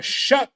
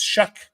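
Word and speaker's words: Shough: Uh Tyler Shuck, I believe is the pronunciation. It's spelled kind of weirdly, but it's Shuck, quarterback.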